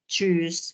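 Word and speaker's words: tschüss: bilangnya chose ya Oke chus gitu bacanya jadi ada agak eh ya penekanan gituah di bagian huruf Um lautnya jadi kita enggak bisa bacanya choose doang Tapi bilangnya choose gitu ya jadi di bagian u Um laut itu harus kentar gitu ya seperti tadi gitu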